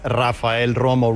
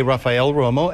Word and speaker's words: Rafael Romo: TV into English TV I would say my name as Rafael Romo rolling or all the ODS of but but guess what happened next just like when I talk to my brothers and my mom I'm poolo but nobody could nobody knew what my name was because nobody could pronounce it and so it became a practical matter to just say Raphael Romo and then it's easier